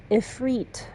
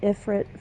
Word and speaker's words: Ifrit: any of Everett's stuff ifreet I guess they pronounce him in this game and I've been pronouncing it Ifrit for oh God almost 30 years since 94.